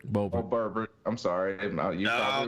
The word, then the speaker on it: Boebert: Is Bobbitt? Hold up, Manchin. Isn't that Boebert? Boebert.